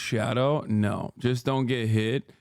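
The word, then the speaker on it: Scadu: 14 it's 14 oh did chat know that skadoo is pronounced shadow no just don't get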